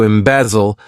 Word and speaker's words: embezzle: To embezzle. This verb has three syllables and the stress is on that second syllable.